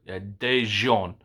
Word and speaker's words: Daejeon: See, it sounds French, but Daejeon.